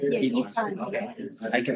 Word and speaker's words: Yifan: Yeah, Yifan. Yeah. I can pronounce.